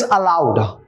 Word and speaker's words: allowed: First one is allowed. When I say allowed, you can think of A-double-L-O-W-E-D or A-L-O-U-D. Both the words are pronounced same, but they have different meanings, different context.